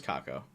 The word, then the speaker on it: Kako: Oh, it's like cackle. Way you were saying it is right. Oh, it is Kako.